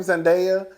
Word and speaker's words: Zendaya: All right, so Zendaya, and that's how you say her name, Zendaya, and Keke Palmer.